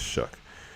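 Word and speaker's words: Shough: I thought it was show, but I guess it's Shuck.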